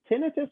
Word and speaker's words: tinnitus: little diagram that he wrote in the whole tinnitus. You guys say, how do you say it, Nick? You say tinnitus.